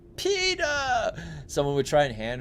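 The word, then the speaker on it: Peeta: Um I thought uh in the Hunger Games they were pronouncing Peter all funny like oh my god. It was PETA. Peta.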